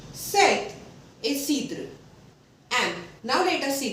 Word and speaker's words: cidre: Then cidre.